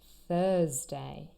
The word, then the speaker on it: Thursday: And the day of the week, Thursday. I know my students often get this confused with Tuesday. That is a different sound.